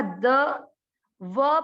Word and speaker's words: द्वौ: आधा द, व पर औ की मात्रा, तो इसको क्या बोलेंगे? वौ, द्वौ, द्वौ, भूत, भूत, स पूरा, र आधा, सर।